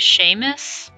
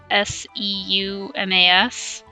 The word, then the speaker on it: Seumas: It belongs to— I've always pronounced his name as Seamus. I don't think that's pronounced Seamus, it's Seumas.